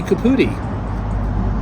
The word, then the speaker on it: Caputi: Caputi, that's Caputi, perfect.